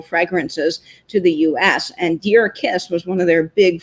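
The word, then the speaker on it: Djer-Kiss: This is from the 1930s, but it's actually pronounced Deer Kiss. It looks like Dire Kiss, but it is Deer Kiss.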